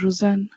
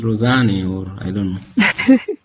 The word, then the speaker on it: Rosanna: pronounce your name Rosanna it's pronounced as rosin rosin they okay I think in French you will see rosin but in English probably is Rosana I know okay fine